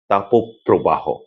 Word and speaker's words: তাপপ্রবাহ: কিন্তু প্রবাহ এই শব্দের সঙ্গে মিলিত হয়ে যখন সমাসবদ্ধ হয় তখন তাকে আমরা বলি তাপপ্রবাহ। অর্থাৎ মধ্যে ওকার আসে একইভাবে দাবো দাহ দাবোদাহ